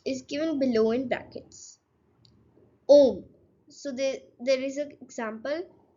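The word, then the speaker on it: homme: And yeah, in French, the letter H. So the letter H is mostly silent.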